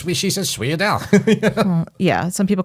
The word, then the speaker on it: sfogliatelle: But if you're going to pronounce it the way it's spelled, it would be sfogliatelle.